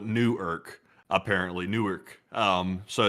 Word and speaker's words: Newark: Apparently, it's not Newark. It's Newark. Interesting. Huh. I never knew that. I always called it Newark. Apparently, it's Newark.